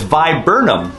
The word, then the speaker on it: viburnum: look at some photographs with a little pronunciation guide i learned that it's viburnum so a genus of more than 150 evergreen